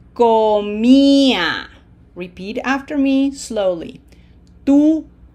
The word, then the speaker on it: comía: Yo comía. Closed O. This is not com, okay? This is comía. Repeat after me slowly. Tú comías. Él comía. Nosotros comíamos. Ustedes comían. Ellos comían.